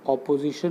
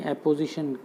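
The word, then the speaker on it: apposition: ये ऑपोजिशन नहीं है, उसकी स्पेलिंग ओ से शुरू होती है, OPPO, लेकिन ये एपोजिशन है।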